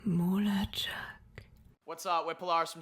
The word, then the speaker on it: Mulatschag: Yeah, it's MULATSCHAG. MULATSCHAG.